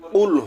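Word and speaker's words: قُلْ: কফ গলার ভিতর থেকে, কফ গলার ভিতর থেকে উচ্চারণ হবে। একটা হলো কফ আর একটা আছে কাফ। এখানে আমরা যদি সঠিক উচ্চারণ করি কুল হুয়াল্লাহু আহাদ, তাহলে সঠিক উচ্চারণের সঠিক অর্থ হবে বলো তিনি আল্লাহ এক অদ্বিতীয়।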